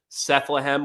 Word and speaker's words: Sethlehem: So if you want to find that's where I'm most active is on X, and that's under Sethlehem, which rhymes with Bethlehem.